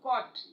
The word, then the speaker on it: caught: places gh is silent for example caught gh is silent but i'm talking about